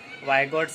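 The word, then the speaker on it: Vygotsky: psychologist है माहिर नफ्सिया तो लेव वाइगोट्स स्काई जिसे लिखते हैं बच्चे और बहुत सारे पढ़ते हैं तो उसे सही प्रोनाउंसिएशन में वाइगोट्स की इस तरह से हमें पढ़ना है तो ये जो सोशल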